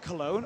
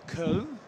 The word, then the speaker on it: Köln: So we're in Cologne, or Köln, if you're going to say it like the Germans, what the Germans do.